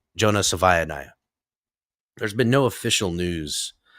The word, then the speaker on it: Savaiinaea: Now, to my understanding, there's been no official news on the circum the situation with Jonah Sava Savanayiah. That's how you say his name. Jonah Savaniah.